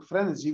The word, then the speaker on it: frenesy: I mean, I needed something which kind of rhymes with entropy more or less, which has like to do with frequency, and sounds a bit like energy and entropy. So I chose for frenesy, which is also in